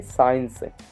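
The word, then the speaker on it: science: जैसे यहाँ पे है साइंस, साइंस में यस के आगे सी है इसलिए इसका उच्चारण नहीं किया गया है।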